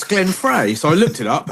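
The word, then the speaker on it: Frey: having that it's Glenn Fry so I looked it up and the pronunciation is fry despite it being written free anyway an 80s absolute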